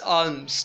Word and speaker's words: alms: दिया हुआ है ALMS आर्म्स, ठीक है ना. ALMS आर्म्स, ठीक है. अब आर्म्स को अगर आप पढ़ेंगे तो उसमें L आपके पास साइलेंट है, ठीक है.